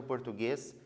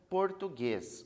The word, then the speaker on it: português: só oito letras porque a letra u ela não é pronunciada a gente não fala